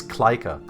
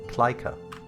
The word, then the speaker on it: Klyka: But my name is Kleika. It's K-L-Y-K-A. I can quickly switch to. This is how you spell it, Kleika.